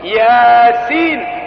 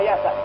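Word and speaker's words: يس: Kadang-kadang dua huruf yasin. Kadang-kadang dua huruf ha mim. Tidak dibaca hama, tidak dibaca yasa, tapi yasin. Berharokat dia.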